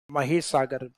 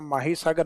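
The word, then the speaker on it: महीसागर: तो इसका माही के नाम से नहीं है, महिसागर, स्पेलिंग वही है माही नदी वाली, लेकिन हिंदी प्रोनाउंसिएशन उसका माही सागर नहीं महिसागर किया गया है।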